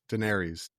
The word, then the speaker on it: Daenerys: Daenerys. Daenerius Targaryen.